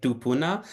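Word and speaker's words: kūpuna: te's um and particular the word kpuna which is she pronounces as tuna um she she has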